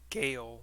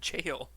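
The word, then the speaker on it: gaol: creators other whatever whoever pronounced it Gail or Gail not understanding that it really is just the word jail I just said every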